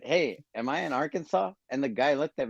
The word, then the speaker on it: Arkansas: you pronounce that word is it Arkansas yes Arkansas it's not Arkansas although it should be yeah uh I went